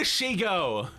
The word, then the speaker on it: Shego: What do you mean a Shego? Wait, how does she say it? Yeah, it's like Shego, like Ego. Shego.